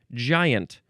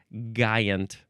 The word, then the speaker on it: giant: Okay, giant. Noun from the 14th century. If we used it a hard G instead of a J sound, it would be giant.